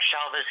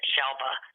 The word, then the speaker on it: Shelva: And I like to tell the story about Shelva's name because a lot of people pronounce it Shelva with a B, and it is Shelva.